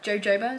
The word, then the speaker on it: jojoba: parsley kale bamboo sesame jojoba jojoba is how you say it jojoba beans so number